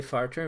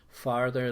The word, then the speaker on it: farther: then farter you're not putting your tongue out far sir if you say farter mother was ma means pet ah-huh it means somebody who makes a who passes gas so be careful on your pronunciation so we have two